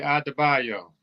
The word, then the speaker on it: Adebayo: He done broke the syllables down. Okay, Adebayo.